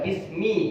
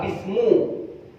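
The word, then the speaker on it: بِسْمِ: Kenapa kok dibaca bismi, kok nggak bismu?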